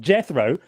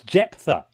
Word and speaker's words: Jephthah: Jephthah. Okay? It's not So Jethro. Oi. If you're going to call in quibbling about my use of the text, get his fucking name right. It's not Jethro. It's Jephthah.